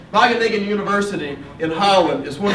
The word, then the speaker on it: Wageningen: It took me about 10 years to learn how to say this, and I may still get it wrong, but Wageningen. All right, Wageningen University in Holland is